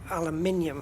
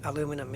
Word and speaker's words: aluminium: of my head and it'd be weird pronouncing it aluminum in the uk if you're going to